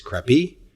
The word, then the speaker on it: Krabi: Coming from my first podcast in Southeast Asia, I'm currently in Thailand, and I believe the proper pronunciation of this beach community is Krabi.